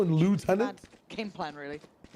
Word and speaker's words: lieutenant: He Well, I mean, to be fair, we don't say it like that. How do you guys say it? We say left tenant. Left tenant. You know, like what it's meant to be again.